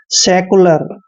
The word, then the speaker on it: secular: देखिए S का उच्चारण हम से करते हैं, E को A की मात्रा पढ़ते हैं। C का उच्चारण हमने यहाँ पे आधा कै करना है और U को U ही पढ़ते हैं। LA का उच्चारण ले करते हैं, R को रे पढ़ते हैं।